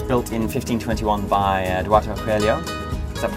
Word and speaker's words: Coelho: Now the church was built in 1521 by Eduardo Coelho. Is that pronounced correctly?